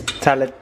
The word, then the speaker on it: tagliatelle: There is a G in Oh. it, but it's a silent G.